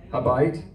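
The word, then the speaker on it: הבית: How do you pronounce it in Hebrew? Habayit, the house, right?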